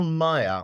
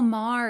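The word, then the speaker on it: Maher: you're entering it was bill Mayer or Maya I'm not quite sure how you say it oh Bill Mah yes yeah Mah there we go I got it wrong but he went on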